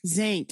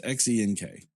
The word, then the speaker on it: Xenk: Zank, I think it was, right? Yeah. It's Xenk. Yeah, okay. Also, his name's pronounced like Reggie.